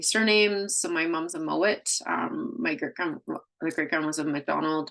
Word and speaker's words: Mowat: It's spelled with 2 T's. Like I always say, it doesn't matter because the English changed the name. It was spelled M-O-A-D, but it is a Scottish accent. It was still pronounced, a D is pronounced as a T.